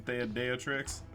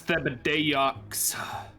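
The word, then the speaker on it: Thibodeaux: I was gonna say, did I mess you up by saying Theodeotrix? Thibodeox. It's Thibodeox.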